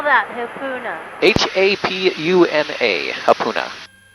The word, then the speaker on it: Hapuna: yeah mon Beach is super nice so is Hapuna Hapuna is easier to get to because it